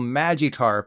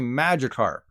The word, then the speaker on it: Magikarp: little fish that evolves into Gyarados isn't called Magikarp it's actually Magikarp to further test my Sabrina like psychic powers